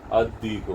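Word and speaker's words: الديك: अद्दीको, दीक क्या है, आगाज़ी हर्फ क्या है, दाल है, ये शमसी है, तो यहाँ पे अल का लाम प्रोनाउंस नहीं होगा, तो ये हो गया अद्दीको।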